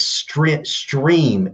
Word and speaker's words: STRIMM: It's Stream, STRIMM. All right. You can find us on Stream. It's pronounced stream, but it looks like STRIMM, STRIMM.